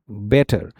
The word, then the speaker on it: better: American English में क्या होता है, a T between vowels become a soft D sound. अगर वॉवल के बीच में टी आ गए, जो यहां पर है आप देख रहे हैं, बेटर की स्पेलिंग क्या होती है, BETTER, बेटर. सो यहां पर जो आपका साउंड है वो चेंज हो जाता है डी साउंड में. Your T would become D like a बेटर.